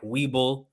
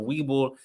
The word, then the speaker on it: Webull: They're the best way they can start getting into checking out the stock market and investing is by first downloading apps like Webull.